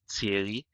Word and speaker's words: Thierry: Haiti and this is a French name so it's pronounced TI but a lot of